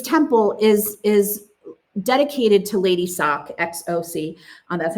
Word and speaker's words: Xoc: And I think that she's really important because this temple is dedicated to Lady Sock, XOC. That's how you spell that.